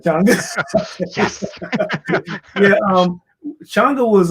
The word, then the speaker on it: Changa: Most people say Changa, but you got it right, Changa.